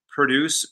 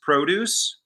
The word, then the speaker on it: produce: produce produce um so the verb is produce right i'm having i'm putting the accent on the cell second syllable produce and then the noun is produce and i'm putting the accent on the first syllable so typically and of